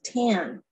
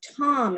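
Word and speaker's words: 谭: Ah Quin's real last name in Chinese is pronounced Tan in Mandarin, like the author Amy Tan of the Joy Luck Club. It is also pronounced Tom in Cantonese.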